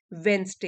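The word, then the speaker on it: Wednesday: international airport of Amritsar वेनसडे यहां D silent होता है वेनसडे बुधवार को कैरिंग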